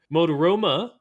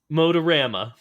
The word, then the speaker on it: Motorama: comm slash wiki slash mode aroma that was wrong girls billboard because are you able to say it right Motorama Motorama see this is